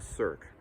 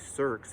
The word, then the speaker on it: cirque: Number 1 might be a cirque. That's spelled C-I-R-Q-U-E.